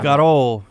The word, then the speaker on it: escarole: Scarole. They just like, it's like Italian. You just like drop syllables. You just drop syllables, and that's how you say things.